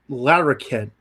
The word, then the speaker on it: Larroquette: the answer the answer is John lor ket Larroquette can't pronounce it Larr o qu ET te but